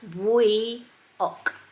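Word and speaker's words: Buíoch: It's pronounced Bwioch, by the way.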